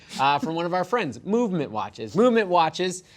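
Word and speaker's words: MVMT: a little something from one of our friends movement watches Lumet watches it's spelled nvm T founded on the belief that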